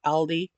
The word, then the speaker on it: Aldi: [cough and clears throat] So, if you have an Aldi or Aldi, um, as I've seen German people pronounce it because it's a German company, um, pick one up.